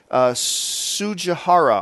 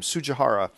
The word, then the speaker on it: Tsujihara: This came from Warner Brothers CEO Kevin Tsujihara, I believe is how you pronounce his last name. Tsujihara. I believe the T is silent.